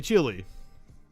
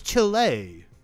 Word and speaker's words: Chile: me all the time when I would say chili plug in it's Chile okay okay touche touche